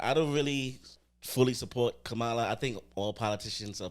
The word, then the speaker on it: Kamala: So no matter what, the electoral votes are going to go to Kamala. You still said it wrong. But You still said it wrong. Kamala.